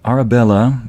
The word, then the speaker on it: Arabella: Yeah, the Spanish pronunciation still comes in every now and then. Arabella is pronounced Arabella in Spanish.